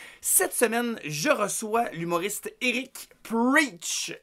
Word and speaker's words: Erich: Cette semaine, je reçois l'humoriste Eric Preach. Et Eric s'écrit E-R-I-C-H, Preach.